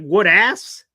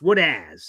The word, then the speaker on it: Woodaz: It sounds like Woodass, but it's Woodazz is how it's pronounced apparently.